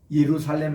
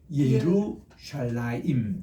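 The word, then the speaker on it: ירושלים: 예후다 예후다 그다음 이브릿지 예루살렘 할 때도 여러분들이 지금까지는 그냥 예루살렘 이렇게 우리가 얘기했는데 그게 아니고 예루살라임 따라합시다 예루살렘 예루살렘 예루살렘에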